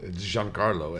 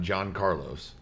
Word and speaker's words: Giancarlo: so mean to me well giancarlo esposito not john carlos he said john carlos